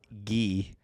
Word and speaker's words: Guy: First off, they're French, so it's Guy. Guy? Guy. It's just Guy. That's how they say it.